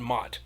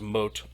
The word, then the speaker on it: Mot: they almost take on mott mott is like hades mott is the god of the underworld it's actually pronounced moat i say mot because it looks like it's moat l initially sides with